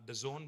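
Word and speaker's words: DAZN: It is pronounced The Zone, but it's spelled D-A-Z-N.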